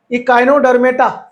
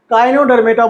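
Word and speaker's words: Echinodermata: आगे आ जाओ, इकाइनोडर्मेटा, क्या काइनोडर्मेटा बोलो, ई बोलो साइलेंट है, काइनोडर्मेटा बोल दो, इकाइनो बोल दो, कोई दिक्कत नहीं है।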